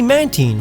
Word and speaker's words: Mantine: I was guilty of saying Mantine, but it's obviously Mantine, like Manta Ray and Marine.